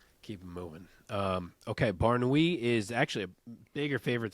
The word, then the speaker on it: Mansour Barnaoui: in the lightweight division maner uh barui I believe is how you say the name JJ Wilson is his